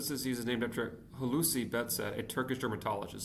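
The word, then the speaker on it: Behçet: The first modern okay the best disease is named after hooi betset a Turkish dermatologist. So it is Turkish. I just I'm pronouncing it wrong. I think it's probably betset instead of bes betchett. So bedset disease and HIV infection for athis ulcers can cause it.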